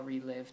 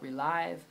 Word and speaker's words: Reliv: on how to sell relive to make money all right how to make money with relive some people call it re-live all right there's different